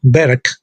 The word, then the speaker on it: Berg: una palabra masculina y se pronuncia como berg se puede usar en